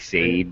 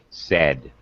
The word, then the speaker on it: said: It's not said. It looks like said, but it's not. It's a short e. It's said.